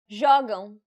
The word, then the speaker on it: Jogam: Jogam. Since this word ends with an M, the stress should be on the second to last syllable, which in this case happens to be the first syllable.